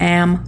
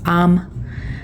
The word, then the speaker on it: am: It's not am, it's um.